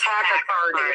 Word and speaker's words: tachycardia: test because you have tachycardia, or however it's pronounced, but your heart beats faster. It's tachycardia. Tachycardia, yes.